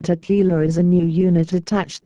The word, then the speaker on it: TQILA: Insurrection and Liberation Army, TQILA, pronounced Tequila, is a new unit